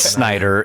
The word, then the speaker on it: Snyder: It is Snyder, and we apologize.